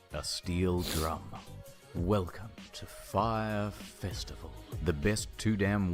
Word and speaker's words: Fyre: Fire promised beaches, ladies. Oh, it's pronounced fire.